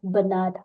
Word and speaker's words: Bernard: Kavyu, and he says his name is Bernard with an R. So through this show, you're going to be pronouncing it as Bernard with an R.